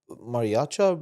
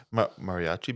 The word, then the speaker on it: mariachi: he's bringing on guests he's bringing on fing mariaa Brands like I butcher that how do you say it mariachi bands Mariachi yeah um but yeah so no